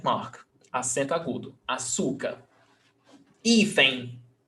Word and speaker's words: hífen: Hífen, N, termina em N, 2 syllables, paroxítona, então, pé, hífen.